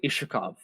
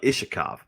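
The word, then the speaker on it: Iskhakov: cyrillics uh the celix it's got an x and it acts as like an h so it's more like ishikov okay so russon ishikov uh he's a second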